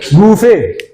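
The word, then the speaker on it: buffet: बूफे। ये बूफे नहीं होते, इसको कहते हैं बफे। बफे टी इसमें साइलेंट होता है।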